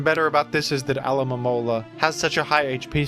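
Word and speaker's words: Alomomola: This is Alamola. I'm saying each syllable here. I'm saying each letter.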